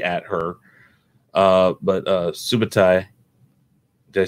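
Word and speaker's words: Subotai: a stiffened snake at her uh but uh subatai did i say it right this time yeah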